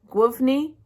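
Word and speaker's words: Główny: you're going to um for instance maine is pronounced like guffney but it's spelt like glowny um so if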